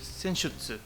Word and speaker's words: Senjutsu: Senjutsu se pronuncia. Senjutsu. Sí, Senjutsu.